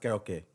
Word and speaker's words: karaoke: life okay I don't it's pronounced karaoke great I don't I